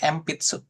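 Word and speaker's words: 鉛筆: Nah, kalau N di sini bacanya jadi M pitsu.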